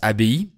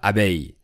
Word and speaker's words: abbaye: Donc ce mot se prononce abbaye et pas abeille.